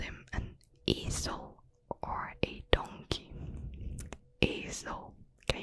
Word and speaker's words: ezel: But Ross was like rude, and then Gunther called him an ezel or a donkey.